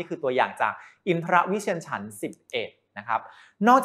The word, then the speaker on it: อินทรวิเชียร: ว่า ฉัน ชนิด นี้ อ่าน ว่า อินทรวิเชียร ฉันท์ 11 ไม่ ใช่ อินทระ นะ ครับ ต้อง ออก เสียง กลาง ด้วย นะ ใน มงคลสูตร คำ